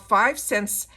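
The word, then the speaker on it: 5 SENS: It's called 5 Cents, and it says, and it's spelled 5 with the number 5 and then SENS.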